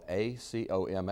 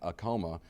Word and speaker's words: Acoma: And if you go to visit there and you go on the tour, they'll tell you, no, we're not in Acoma. This is Acoma, is what it is. Now, Acoma sits atop, the Pueblo